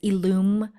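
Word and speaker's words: illume: learn more about ilum yes so it is illum Dash Collective and Alum is spelled i l l u m e for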